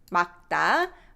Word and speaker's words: 맑다: When you read it, we just pronounce this 기역 underneath, 맑다.